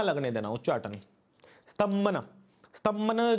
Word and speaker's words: उच्चाटन: उच्चाटन। उच्चारण। उच्चाटन।